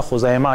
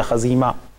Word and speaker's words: خزیمہ: کے ایک صحابی تھے جن کا نام تھا خزیمہ یا خزیمہ، دونوں طرح سے تلفظ کیا جاتا ہے ملک کے اختلاف کے ساتھ۔ بہرحال یہ خزیمہ جو